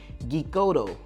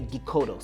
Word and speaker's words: Geekoto: That's kind of how I pronounce it because it's geek and then oto. So I'm thinking it's like Geekoto.